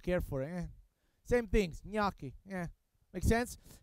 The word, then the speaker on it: gnocchi: right foreign is not no key it's not when in Italy you have a g and you have an n the sound is I think is that's